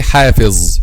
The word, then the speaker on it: حافظ: Okay, this is a common mistake here, and some people say حافظ and make it with zay, but this is wrong because this z refers to letter dha.